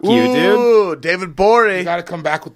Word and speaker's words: Gborie: Ooh, David You Gborie. got to come back with the rock. The G is silent.